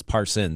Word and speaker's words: Parson: happens with him is everyone says his name wrong it's Parson singular people say Parson par paron okay you know that's